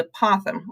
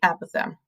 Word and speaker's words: apothem: The last term is called the apothem or the apothem. Both are correct pronunciations.